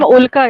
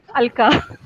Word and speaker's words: Ulka: Ma'am, Ulka, it is Ulka. Ulka, what did I say? Alka.